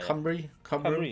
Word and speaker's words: Cymru: Can you pronounce Wales in Welsh? It's like... Is it CY... RMU, something like that. Yeah. Cymru, spot on, yeah. Cymru, there we go.